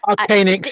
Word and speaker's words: Arcanix: Arcanix is what I normally say, Arcanic.